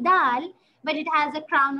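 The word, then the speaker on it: د: exact same thing with dal we will touch the tip of our tongue to the edge of our teeth see dal good exactly so what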